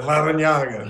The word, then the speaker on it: Larrañaga: There's a double R, too, right, coach? So you have an R in there also. Can you roll your R's? Yeah, Larrañaga.